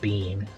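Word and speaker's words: Biehn: That would be Lance Hendrickson, Michael Bean. His last name is spelled B I E Hn, but it's similar. Uh, pronounced the same.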